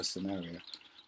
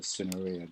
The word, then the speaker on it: cinerea: yellow, a grey wagtail, Motacilla cinerea, or cinerea, depending on how you want to pronounce it, which is just incredible